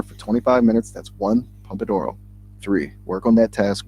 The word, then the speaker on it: Pomodoro: You were close with the pronunciation. It's actually Pomodoro.